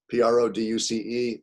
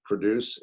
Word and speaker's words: produce: know fruits vegetables whatever p r o d u c e same spelling different pronunciation produce and produce all right so you